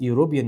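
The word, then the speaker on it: European: ذا جفرنمنت الحكومه ايمز اتج اب بتهدف لتاسيس يوروبيان يونفرستي جامعه اوروبيه صفه واسم يبقى او ان طب ويونفرستي تتجمع وديو بتتنطق تبقى مش ان تبقى ايوبيان يونفرستي وي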